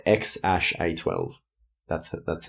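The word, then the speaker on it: X Æ A-12: close yeah it's a it looks like an A and E but it's not a it's like an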